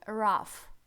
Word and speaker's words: rough: Это не читается как РОУ, ГХ, нет. Это читается как rough, палатка, краткая палатка. Эти два звука GH, потом дальше мы будем разбирать, читается как Ф, звук Ф, да?